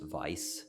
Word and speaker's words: Weiss: there's a character named grimoire weiss but they pronounce it like the real way which is vice wise yeah i think like most w words